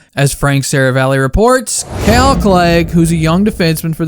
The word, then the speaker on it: Clague: and maybe why did this guy's name which rhymes with plague find himself on waivers well let's start with the basics calc leg or as eric cartman